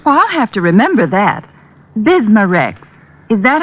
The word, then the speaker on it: Bismarex: irritated stomach membranes i'll have to remember that bismarex is that how you say it that's right